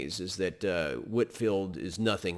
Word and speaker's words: Whitefield: the first order that man's name is george whitfield it's spelled a white field with a w-h-i-t-e and then field but it's whitfield pronounced george whitfield is one of the great preachers in american